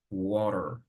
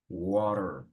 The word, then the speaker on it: water: what like British or when you have t in the middle of two vowels like the case of water we it's in the middle of A and E so you will pronounce water water water and here the same